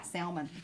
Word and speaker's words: salmon: are hearing you oh in some parts of the world they pronounce it with the l in the word yeah yeah salmon some people do that crazy crazy crazy